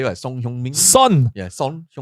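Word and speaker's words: Son Heung-min: Yeah, Son Hyung-min. Not Song.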